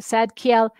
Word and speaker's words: Zadkiel: seven colors, is Archangel Zadkiel. And um that's how it's pronounced, Zad- Zadkiel.